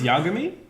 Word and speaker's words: Yagami: Light Yagami that was the whitest pronunciation no hey no to say but you go me Yagami it's Yagami Jack you mean boy you da me right